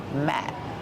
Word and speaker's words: mat: about the letter T the letter T at the end of the word Matt is a stop T we don't say Matt we stop the air we don't release the sound Matt mat this is